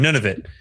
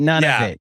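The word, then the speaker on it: Nunavut: Yeah, there's a T at the end. None of it. None of it. Okay. So, we don't pronounce That's right. None of it.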